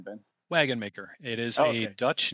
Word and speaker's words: Wagonmaker: how do you say your last name Ben wagon maker it is a Dutch name of or Dutch